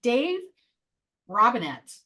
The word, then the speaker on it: Robinett: I'm Coach Lee with Action Coach Business Coaching, and we have Dave Robinett. Correct. I said it right with an emphasis on the T.